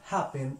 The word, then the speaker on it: happen: Cuando nosotros decimos happen y cuando decimos begin, estamos haciendo fuerza en sílabas diferentes. Cuando decimos happen, estamos haciendo el acento en la primera sílaba, happen. Cuando decimos begin, estamos haciendo el acento en la segunda sílaba.